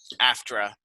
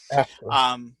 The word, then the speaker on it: AFTRA: How do you say that? AFTRA. After.